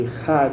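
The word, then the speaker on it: אחד: Quando fala a palavra, o último versículo, né, Echad, composta de 3 letras hebraicas, que deve ser pronunciada com ênfase, Echad, em especial quando se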